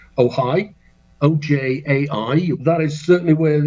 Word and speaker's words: Ojai: That's in California on the 15th of July at Libya Bowl in, I think it's pronounced Ojai.